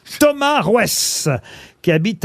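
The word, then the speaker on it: Roess: Ça a sonné chez monsieur Rouès. Ça s'écrit R-O-E-2-S, puisque vous ne me le demandez pas.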